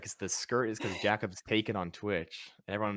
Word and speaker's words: Jackob: be like it's like how do you explain in text how to pronounce jacob i say it's like kebab like jacob but it's kind of